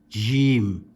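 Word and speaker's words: جيم: Next letter is jim with one dot. Jim. Again, it can be stretched and not just jim, but jim.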